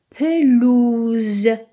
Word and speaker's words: pelouse: Très bien, le mot suivant se lit pelouse. Pelouse. Donc, le S, il est placé entre deux voyelles. Il y a un seul S placé entre un U et un E. Donc, il se prononce Z.